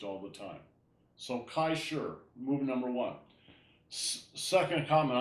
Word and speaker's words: shi: any move is called sure spelled Shi but pronounced with a little bit of an R so sure um Kai